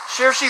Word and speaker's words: Saoirse: Ronan's Saoirse Ronan. 5. Saoirse Ronan. We will accept that. Yeah, I believe it's Saoirse, but her name's hard to pronounce.